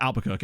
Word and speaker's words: Albuquerque: from but everywhere I Albuquerque in New Mexico is pronounced Albuquerque I realize that's an American thing and but still it's